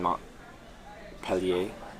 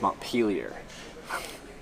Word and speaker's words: Montpelier: I've been in Montpellier, Vermont. No, it's Montpelier.